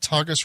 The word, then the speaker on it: Tagus: Is it Tagus River? Am I pronouncing that right? Yeah. Beyond the Tagus River.